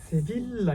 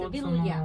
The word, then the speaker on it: Sevilla: セビッラにこれで読みセビたいのッラかな。